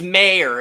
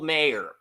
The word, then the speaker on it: Mayer: It's Mayer. It's Michael Mayer.